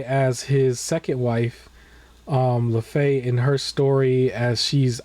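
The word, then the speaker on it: Laufey: Lefay.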